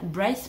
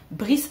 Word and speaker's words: Bryce: notre héroïne qui s'appelle, je vais le dire à l'anglaise, je vais dire Bryce parce que sinon Brice ça me fait trop bizarre, moi je le prononce Bryce dans ma tête, sinon version française ça fait bizarre.